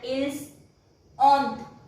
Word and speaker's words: ils ont: This is also here again S is followed by a vowel, so it will pronounce as vous avez. Nous avons means we have. Vous avez means you have. And ils ont.